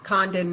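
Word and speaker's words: Congdon: on Facebook and Instagram Condon Ministries c o n g d o n uh the g is silent so good luck pronouncing it if you don't silence it um we definitely we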